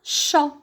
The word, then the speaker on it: chat: image qu'est ce que vous voyez c'est un chat un chat comme j'écris ce chant et à